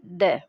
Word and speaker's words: the: उसी तरह से अगर हम डेफिनेट आर्टिकल यूज़ कर रहे हैं और उसके जस्ट बाद आने वाले वर्ड कॉन्सोनेंट साउंड से स्टार्ट होता है तो हम इसका जो प्रोनाउंसिएशन करेंगे वो बोलेंगे द, और अगर वॉवल साउंड से स्टार्ट हो रहा है तो इसका प्रोनाउंसिएशन होगा दी। तो इस तरह से द और दी अपनी जगह ही बोले जाने चाहिए।